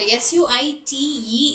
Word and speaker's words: suite: Uh and s u i t e is suite, that is the luxurious room.